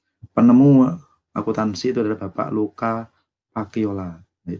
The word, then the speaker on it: Luca Pacioli: Penemu akuntansi itu adalah Bapak Luca Pacioli. Nah, tulisannya Lucas Pacioli tapi bacanya Luca Pacioli.